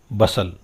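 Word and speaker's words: bustle: There was a great बसल, यहाँ पर बच्चों एल साइलेंट है, बस्टल नहीं बोला गया, ये क्या बोलेगा, बसल।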